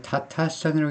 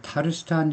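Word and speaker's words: Tatarstan: 카잔, the capital of the Republic of Tarstan, 이걸 타타스탄으로 읽지 않고 타르스탄 정도로 발음을 한다고 그러네요.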